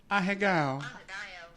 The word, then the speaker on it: Ahegao: Wait, I found the pronunciation. Wait. Oh, look at there. You were spot on. Ahegao.